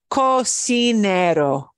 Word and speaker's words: cocinero: I don't need to write an accent mark there. That stresses the syllable it's supposed to.